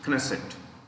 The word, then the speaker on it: Knesset: and parliament is called knesset the k is pronounced knesset k is pronounced crested